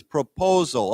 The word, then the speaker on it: proposal: Okay, remember the accent is on the second syllable, so it's proposal.